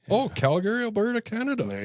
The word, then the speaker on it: Calgary: You actually pronounce it Calgary. Yeah. Not Calgary. Calgary. Calgary. Gree.